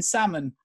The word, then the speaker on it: salmon: you may as well go ahead and pronounce the L in salmon nothing matters anymore this